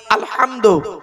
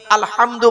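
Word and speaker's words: الحمد: না আলহামদুলিল্লাহি রাব্বিল আলামিন আলহামদু এই গলার ভেতর থেকে হেটা উচ্চারণ করবেন হাই হুতি হাই হাওয়াজ নয় আলহামদুলিল্লাহি রাব্বিল আলামিন আলহামদু মানে হচ্ছে সমস্ত প্রশংসা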